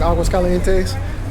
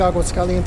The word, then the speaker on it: Aguascalientes: Centro over here in Aguascalientes. I personally think Aguascalientes is a beautiful city. My wife corrected me on it. She said it's not Aguas Calientes, it's Aguas Calientes.